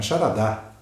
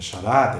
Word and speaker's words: charada: Não é charadá, é charada, é paroxítona.